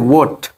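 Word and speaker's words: what: ওয়াট, হোয়াট না, ওয়াট।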